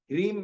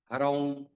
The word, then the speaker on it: ह्रीम: क्योंकि मैंने देखा है मोस्टली लोग राम रीम रोम हरम हरा इसका उच्चारण गलत करते हैं तो गलत क करने से अच्छा है ओम ह्रीम नमः ओम ह्रीम नमः शुद्ध वस्त्र पहन कर के